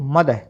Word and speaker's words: mother: जो होता है ना, लास्ट जो आर जो साउंड होती है वो ब्रिटिश इंग्लिश के अंदर उसका उच्चारण नहीं किया जाता है। तो इसको हम क्या पढ़ेंगे, फादर, क्योंकि आर तो साइलेंट है, इसलिए क्या हो गया, ये आर का उच्चारण आपने नहीं करना। क्या पढ़ेंगे इसको, फादर को फादर, MOTHER को मदर। ठीक है, ऐसे ही ब्रदर, सिस्टर, ठीक है, बेटर, तो आर नहीं बोलना आपने लास्ट में।